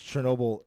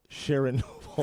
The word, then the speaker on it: Chernobyl: Um because of that video I did and I pronounced Chernobyl Sharon Noble.